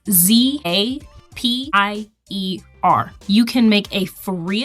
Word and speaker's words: Zapier: I know how to spell it. I don't know exactly how to say it. It's Zapier.